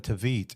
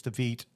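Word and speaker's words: Tveit: And when we saw it, it was Aaron Tvit as as Sweeney. I think it's Tvite. I think that's how you pronounce it.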